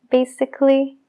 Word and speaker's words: basically: En fin, no se pronuncia la A en el sufijo ALLY siempre cuando haya un consonante antes. En este caso, el consonante es la C. Logically, musically, basically y practically.